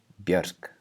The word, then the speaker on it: Björk: So compare these two words. On the top we have a common name in Iceland, Björk. And the next one we have a very famous singer in Iceland, Björk. And that R is voiceless.